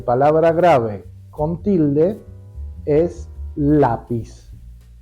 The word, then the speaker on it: lápiz: grave con tilde es lápiz lleva tilde en la a porque la palabra termina